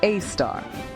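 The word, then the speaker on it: Sagittarius A*: At the heart of the Milky Way, about 26,000 light-years from Earth, lies Sagittarius A, pronounced A star.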